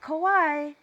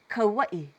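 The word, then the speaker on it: Kauaʻi: Not Kauai, Kauai. Make sure your mouth is a little tighter because it's an U, it's a U there.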